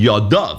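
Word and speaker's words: ידיו: V'samach aharon eshtei yadav. So what does it mean, ksiv yadai? Teretz is, there's yeshem lemikra and there's yeshem lemesayres. The yeshem lemikra, the way you pronounce the word is yadav.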